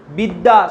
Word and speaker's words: বিদ্যা: অদ্য শব্দের শেষে আছে, বিদ্যা শব্দের শেষে আছে, তাই এটা কিরকম উচ্চারণ হবে? দেখো দুবার দ উচ্চারণ হবে, কারণ দয়ের সঙ্গে জফলা যোগ আছে, এখানেও দয়ের সঙ্গে জফলা যোগ আছে।